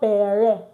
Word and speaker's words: père: Please, it's not père. It's not père. It's père. The E here is not pronounced.